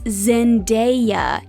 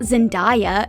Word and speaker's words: Zendaya: feature to sound it out for you it's zendaya not zendaya and yes zendaya was once a thing it